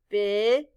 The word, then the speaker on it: because: This first E stands for the short I. The letters A-U stand for the sound aw. The letter S stands for the sound z. The final E is silent.